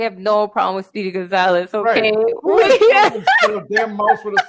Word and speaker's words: Gonzalez: You gotta say it like Gonzalez. Gonzalez.